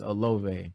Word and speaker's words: Olave: How you pronounce it? I want to say it's Olave.